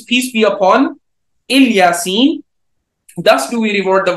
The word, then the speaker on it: Ilyasin: What we would say is that Aale Yaseen is another way of pronouncing Ilyasin.